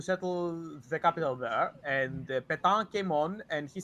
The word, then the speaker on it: Pétain: Okay, was- so then, okay, so, shoot, how do you pronounce this guy's name? Marcel? Petain.